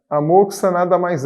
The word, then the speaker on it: moxa: veio né você deve ter um tipo de pronúncia sabemos que o termo correto é moxa uma vez que vem do japonês morros a é bom sar10 acabou passando aqui para a nossa forma latino-americana como mocha se inscreveram moça com x e daí a